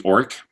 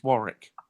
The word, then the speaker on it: Warwick: second Douglas twice the second W silo in the first W pronounced shouldn't be orc its Warwick alright and anyway is in